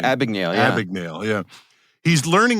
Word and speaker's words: Abagnale: It's like I can't pronounce his name. Abagnale, yeah.